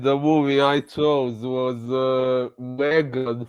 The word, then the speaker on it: M3gan: Yeah, so this time the movie I chose was Megan from 2022, the one spelled like M3gan.